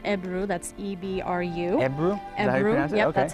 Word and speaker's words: ebru: the the turkish name of it is called ebru that's e-b-r-u yep that's how you pronounce it uh but it's believed that most